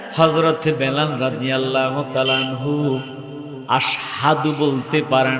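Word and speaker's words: أشهد: মুহাম্মাদুর রাসূলুল্লাহ সাল্লাল্লাহু আলাইহি ওয়াসাল্লাম মসজিদে নববীর মধ্যে কেমন মুয়াজ্জিন রেখেছে, যিনি আশহাদু শুদ্ধ উচ্চারণটা করতে পারে না, আসাদু বলে, লফজটা ভুল বলে।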